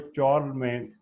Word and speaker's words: चार्लमैन: The king चार्लमैन, ये जो Charlie Magna लिखा हुआ है, चार्लमैन इसकी करेक्ट प्रोनाउंसिएशन है, of France was the most powerful ruler of the Roman Empire during that time.